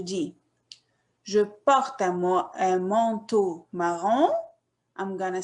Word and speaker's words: marron: The color, c'est marron. The O-N, we pronounce it on. Alors, on dit marron.